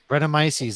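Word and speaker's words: Brettanomyces: the wild yeast oh gosh bretton i can't pronounce that word henry help me out here what is that rhetomices bretomices there we go i'm like call yourself a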